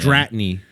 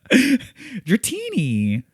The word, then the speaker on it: Dratini: Dratany. Uh, no. Dratini. Dratini. Pronounced like a like What is Dratini? It's like a martini.